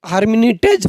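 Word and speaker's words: Lhermitte: जिसका नाम है ह हरमिटेज फिनोमिना एल साइलेंट रहता है इसमें जो एल लिखे हैं एल साइलेंट रहता है याद रखिएगा हार्मनीज फिनोमिना क्या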